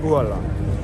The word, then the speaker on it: Haaland: How do you pronounce his name then? What's the correct way of saying his name? Erling Braut Haaland.